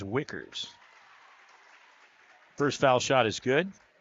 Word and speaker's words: Wicker: her first foul now they're pronouncing it as witchers but I was told by the coach that it is Wickers first foul shot is